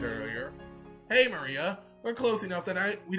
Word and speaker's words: Maria: is a funky little cross of course it's pronounced maria the third character looks like a cross which